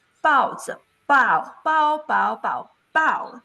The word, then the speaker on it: 包: Now, for instance, like 包子, bao, bao, bao, bao, bao, that is the fourth tone, 包子.